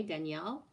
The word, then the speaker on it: Danielle: feels good and then danielle which is the femin the masculine equivalent of daniel in quebec is still pronounced the same way danielle and yeah he did